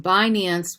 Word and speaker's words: Binance: the octopus k-r-a-k-e-n um binance which almost like sounds like bitcoin binance dot us is